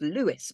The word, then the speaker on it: Louis: say it as um it's pronounced Lewis but I think Lewis